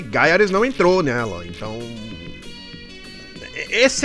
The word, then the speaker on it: Gaiares: leste é bom mas gares não é gares é gares assim que se pronuncia gares é um dos